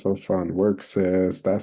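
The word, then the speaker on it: Wrk: in the similar vein the next one is work sis and it's spelled w r k work um work say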